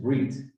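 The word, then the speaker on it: ברית: In fact, to point out just a Hebrew detail, the word for covenant in Hebrew is brit, or if you pronounce it in Ashkenazi style accent, it would be bris.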